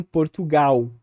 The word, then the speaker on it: Portugal: Por fim, de uma forma grosseira, tem ali o L final, que no português brasileiro é predominantemente pronunciado como uma glide ou como uma semivogal, vamos dizer assim, que seria um U. Então, Portugal. Percebam aqui que não tem resquício desse L, só tem uma vogal U.